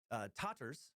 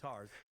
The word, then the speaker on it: Tatars: Or, actually, sometimes it's called Tatars, depending on which pronunciation guide you look at. The correct version seems to be Tatars.